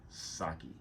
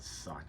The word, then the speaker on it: sake: languishing in Japanese prisons that said Saki and it's not sake sake think of the word sake sake the other thing you